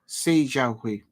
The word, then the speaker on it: Jiahui: So I pronounced his name incorrectly. Jiahui.